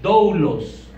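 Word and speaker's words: δοῦλος: Se dice doulos.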